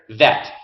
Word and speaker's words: vet: And when we put the popsicle stick under the letter without the dot, no ball, it's va, va, va.